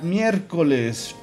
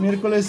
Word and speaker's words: miércoles: Entonces seguiría miércoles. Por lo tanto sería miércoles. Miércoles. Miércoles lleva acento en la E, si no me equivoco.